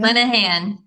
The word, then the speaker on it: Linehan: Linehan.